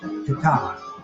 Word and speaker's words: Tetteh: How do we pronounce that? Tetteh? Tetteh.